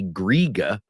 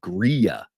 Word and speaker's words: griege: D that second G when you have a g that falls between two vowels in Pennsylvania dutch it takes a y sound so we don't say griga we say gria uh YY gria gria